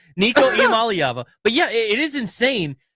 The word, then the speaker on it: Iamaleava: It's Nico Iamaleava.